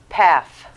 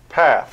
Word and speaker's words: Pfaff: f p-f-a-f-f right so the appropriate pronunciation is path path so the first f is silent so you have it